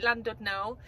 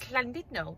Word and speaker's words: Llandudno: The English call it Llandudno. The correct pronunciation is Llandudno.